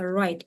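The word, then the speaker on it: write: Match співставляти read читати WR w не читається Wi писати say Hello казати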